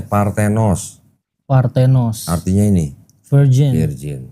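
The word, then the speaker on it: παρθένος: Ini bacanya Partenos.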